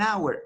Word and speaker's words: hour: to the pronunciation an hour hour the letter H is a silent letter so it's not pronounced an hour an honest